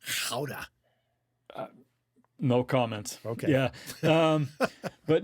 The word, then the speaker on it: Gouda: Most Americans pronounce it Gouda, when in reality it's Gouda.